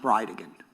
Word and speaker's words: Bridegan: And I'll represent to you that it's pronounced Bridean.